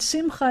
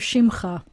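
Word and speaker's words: שִׁמְךָ: And I thought you said simcha instead of shimcha, but it might have just been my speakers.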